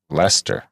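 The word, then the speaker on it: Leicester: in this context also leaster is pronounced Lester yeah I said that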